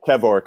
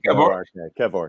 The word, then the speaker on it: Kevork: We have our very special guest here, Kevork. Can I just double check that I'm pronouncing your surname correctly? Yeah, it's pronounced a few different ways, but Kevork, almost like Kevin. But okay, Kevork.